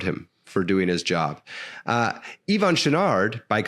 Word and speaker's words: Yvon Chouinard: sure that I'm pronouncing Yvon Chouinard's name correctly. How do you pronounce it? How do you say it? Just like you did. You're doing great. Yeah. Yvon Chouinard.